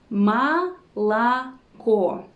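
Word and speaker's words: молоко: we pronounce them as this is called vowel reduction and it's an important rule in the russian pronunciation so the next letter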